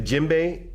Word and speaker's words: djembe: have a look at the djembe now the djembe is spelled d je e m b e this